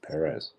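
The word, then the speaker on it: Pérez: in real life that he says Perez he has there's a hyphen above the first e it's it's Perez all right I'm just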